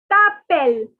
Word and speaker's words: t'appelles: And the next is t'appelles. The S is silent.